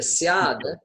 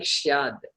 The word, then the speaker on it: स्यात्: Then syad, the one before that, the syad, you're saying shyad.